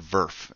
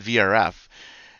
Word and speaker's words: VRF: people safer for vrf and almost everyone said vrf and I said all of you are human trash it's Verve you just say burp like the Canadian accent